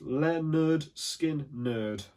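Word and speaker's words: Lynyrd Skynyrd: and roll we've got leonard skynyrd pronounced leonard skin nerd thanks guys that was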